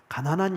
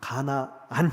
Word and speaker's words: 가나안: 발음을 잘 하셔야 돼요. 가난한 여인이 아니라 가나한 아 가나안 여인.